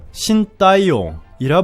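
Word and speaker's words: Shin Tae-yong: 힘든 것은 없다라고 있습니다 인도네시아인들은 신 감독을 현지 발음으로 신따 이용이라 부르고 쓸 때는 영어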